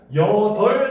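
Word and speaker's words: 여덟: 자리에 앉다 역시 마찬가지 지읒이 탈락돼서 발음되고 여덜 같은 경우도 비읍이 탈락해서 발음하고 외골 같은 경우도 시옷이 탈락해서 발음을 합니다.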